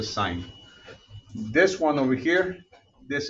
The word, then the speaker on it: sine: now as of today any time that you see us that is going to be the sign it looks like sin that's how we usually write it but it's called the sign this one over here